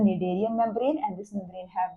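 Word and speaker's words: Schneiderian: नाम दिया हुआ है निडेरियन मेम्ब्रेन। ठीक है, SCH जो है दिस इज साइलेंट और हम इसे बुलाते हैं निडेरियन membrane and इट is responsible for the perception of smell.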